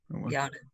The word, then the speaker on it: Yanna: But mine is basically Anna with a Y on the front. Yana.